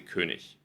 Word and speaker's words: König: Viele Leute in Deutschland, je nachdem, wo ihr seid, in welcher Region ihr seid, sagen zum Beispiel Zug. Ja? Oder statt König sagen sie König.